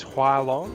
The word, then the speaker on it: Hua Long: and also the fact that you keep pronouncing the name wrong. It's Hua Long.